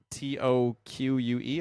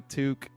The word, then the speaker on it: toque: how you think it would be it's like t o qu E I think and I I believe no no toque it's spelled t o qu u e and yeah